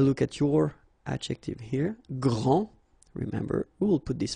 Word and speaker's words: grand: Okay, so phonetically, what you can hear is that this first form here for the masculine, grand, so you don't pronounce the final D, will be exactly the same as the plural form for the masculine, grand.